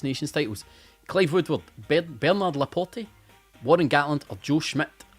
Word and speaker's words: Laporte: Apparently it's Laporte. Bernard Laporte. Who knew? Craig knew. Because he's the one that told me how to say it.